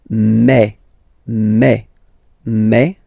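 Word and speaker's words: mes: aspect of it then remember that this a s here combined will give you the sound a okay so you'll pronounce it like me me okay so logical same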